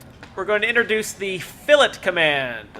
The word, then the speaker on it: fillet: going to introduce the philip command a lot of people think that it's pronounced filet like fillet of fish because that is how it's spelled but it's not it's pronounced philip because it's well it's